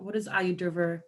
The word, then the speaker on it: Ayurveda: Okay, so a little bit more into Ayurveda. So what does that, for people who don't know, and because I'm not an expert with that, what does that entail? What does Ayurveda look like?